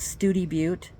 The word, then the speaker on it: Study Butte: east of town proper called study but spelled study again English is crazy isn't it and especially